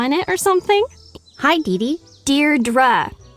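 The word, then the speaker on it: Deirdre: it or something hi Dee Dear dra I know it's got that tricky second syllable but I figured it out by age two don't give up you'll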